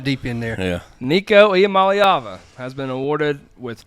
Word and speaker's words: Iamaleava: He was like, "It's Iamaleava."